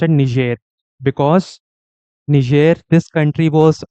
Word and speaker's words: Niger: in the west n Niger it is actually pronounced at ner because ner this country was initially under the